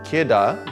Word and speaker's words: Kidde: next to nothing now kitta ki dde pronounced kedah they make the best